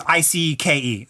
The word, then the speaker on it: Icke: Icke it's AI it's IP okay so it's IC ke David Icke I'm gonna make sure I was